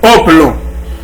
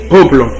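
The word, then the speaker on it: ὅπλον: Le mot âme, mot ça lui sorti dans grec là qui c'est hoplon qui s'écrit H-O-P-L-O-N. P-L-O-N, oplon.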